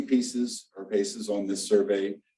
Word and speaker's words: PACEs: I've heard people call them PACEs, but we're actually pronouncing it pieces.